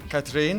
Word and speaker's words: Katrin: Hi, my name's Eddie and we're here at Web Engineering 2019 in Palma, and I have the awesome Katrin, did I pronounce that correctly? Katrin.